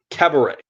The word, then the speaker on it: cabaret: We've got our main film of the evening, which is Cabaret from It's cabaret. 1970.